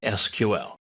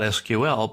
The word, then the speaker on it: SQL: This lesson is an introduction to SQL. Now, what is SQL? Well, it's an abbreviation standing for Structured Query Language. It's generally pronounced not SQL, but SQL is the normal way we say it.